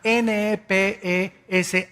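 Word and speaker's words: נפש: es la palabra hebrea nepes así como suena n e p e s h nepes la palabra la letra o las letras sh en el hebreo se pronuncian en hebreo como J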